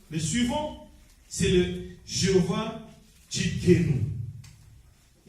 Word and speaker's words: Tsidkenu: Mais ce n'est pas le Tsidkenu, c'est Tsidkenu. Donc ça écrit T-S-I-D-K-N-O-U.